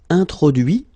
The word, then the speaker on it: introduit: Introduire, introduit. Produire, produit. Réduire, réduit. Séduire, séduit. Traduire, traduit. Okay, so the same rule, because, well, basically it's the same group, and then same rule, final T not pronounced, so introduit, produit, réduit, séduit, traduit.